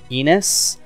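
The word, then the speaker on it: Innes: am pronouncing this correctly his name is enos because it's spelled i n n e s in s in s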